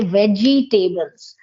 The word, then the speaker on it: vegetable: Like most of the people, they say vegetables. It is not veggie, it is vegetables. Veg, Vegetable. Yes. vegetable. Yeah, the second E has to be dropped down.